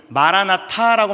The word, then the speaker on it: 마라나타: 해석이 한 가지가 더 가능합니다 제가 뭐라고 말씀드릴게요 발음을 마라나타라고 말씀을 드렸습니다 근데 이게 이제 언어에 따라서 한